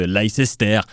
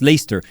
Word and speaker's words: Leicester: célébrer le titre de l'ice esther ça fera tout de suite moins crédible ça se prononce leicester presse comme lester burnham le personnage de kevin spacey dans american beauty et les joueurs de leicester ont aussi vécu un